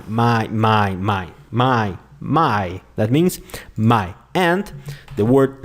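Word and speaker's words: mein: and these two letters you don't pronounce them like in English you don't say ar e I know you just say my my like this my my my my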